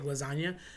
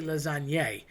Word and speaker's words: lasagne: So, lasagna would literally be one noodle. Now, we just call it that cuz it's one big lasagna. But when you cut it and you layer it, it's really lasagne. So, think about like linguine is literally a bunch of noodles in a bowl because linguine, ending with an e, would be one noodle. So, you want to eat the lasagne really, but everybody says lasagna.